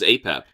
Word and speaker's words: Apep: Raw from the serpent Apotus or Aep. I thought it was Apep.